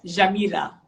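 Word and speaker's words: جميلة: the word beautiful are you ready yeah okay jamila jamira there you go and you can say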